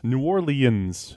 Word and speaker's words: New Orleans: Announcers do it like that. I like New Orleans. Oh, really? Almost Nolens.